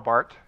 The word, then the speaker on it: Barth: And Karl Barth, we pronounce Barth, but Barth.